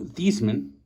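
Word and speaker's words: Theismann: you're pronouncing that wrong i'm actually pronouncing it right he actually changed the pronunciation of his name while in notre dame to heisman so it could rhyme with heisman the more you know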